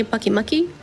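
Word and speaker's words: Pyukumuku: There's also Pukumuku, I believe is how you say it. My friends say Bucky Mucky.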